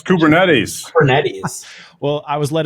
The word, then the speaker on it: Kubernetes: this beach thing kubernetes kubernets migration no it's kubernetes cetes well I was